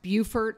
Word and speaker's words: Beaufort: South Carolina another thing is the town is pronounced Beaufort and it's spelled Beaufort or low country or